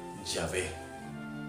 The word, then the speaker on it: Yahvé: Sin embargo, es muy probable que la pronunciación haya sido Yahvé.